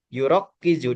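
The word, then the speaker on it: يُرَكِّزُ: Sehingga ini dibacanya yurokkizu dari mana? Dari fa'ala yufa'ilu.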